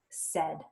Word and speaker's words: said: and this word is tricky because that AI in the middle does not sound like us like when we say us and we say it and it says the like E but when we spell it it's AI and so we have to